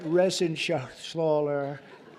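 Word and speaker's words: Reschenthaler: thank you and Guy Ren Shaler you know that resen Sher he's uh that's actually the way you pronounce it you know nobody else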